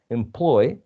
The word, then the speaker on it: employee: is payee employ employ you see where the stress goes right stress falls in the second syllable ploy employee but employee employee journal